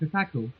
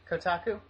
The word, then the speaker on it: Kotaku: it had gone it had gotten featured in Kaku you know the website Kaku Kaku I don't know how you pronounce it Kotaku yes you know it so it's because it got featured in Kotaku Kotaku whatever you um it suddenly uh gathered a